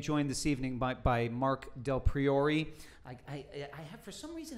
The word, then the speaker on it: Del Priore: Del Priore. Del Priore.